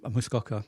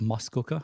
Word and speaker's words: Muskoka: My wife says it's Muskoka, and I've been saying Muskoka for the longest time.